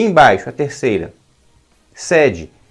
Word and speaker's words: sede: E embaixo, a terceira, sede. É também uma forma conjugada ou flexionada do verbo sedar, anestesiar, e deve ser pronunciado também com o E aberto na primeira sílaba.